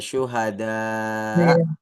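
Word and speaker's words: شهداء: Bu halam 30 oke syuhadau ya Oh iya i Nah makanya dibacanya panjang Makanya mamdudah ini karena setelahnya ada Hamzah itu sehingga dibacanya agak panjang Syuhada Hasna ulama baid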